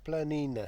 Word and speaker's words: planina: and sunny Vala Vala planina planina that is pronounced absolutely perfectly which um it's all